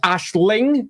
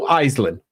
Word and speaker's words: Aislinn: Um, Ash, it's pronounced Ashling in the original uh form. Ashlin is what comes afterwards. And there's a whole bunch of other derivatives as well. There is no Eelin. Eiselyn is not a name